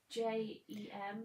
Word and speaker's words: Jem: Is Jem the same, or J-E-M the same as PME? You said it right the first time.